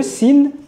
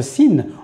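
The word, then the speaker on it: سين: Ce qui est important dans cette lettre là lorsqu'on la prononce, c'est de ne pas créer d'emphase lorsqu'on en a pas besoin. Pas faire de sa sour si si parce que là on se retrouve à prononcer une autre lettre qui est la lettre sodai juste après.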